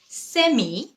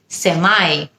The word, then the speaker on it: semi: সেমি নাকি সেমাই, দুটোই correct. সেমি হলো ব্রিটিশ উচ্চারণ এবং সেমাই হলো আমেরিকান উচ্চারণ।